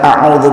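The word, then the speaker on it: أعوذ: Sedikit saya koreksi cara bacaannya. Qul a'u, a hamzah, a, kemudian a'u huruf yang keluar dari tenggorokan, a'u ya. Sama seperti kita baca a'udzu billahi minasyaitonir rajim, a'udzu. Lalu za, ujung lidah di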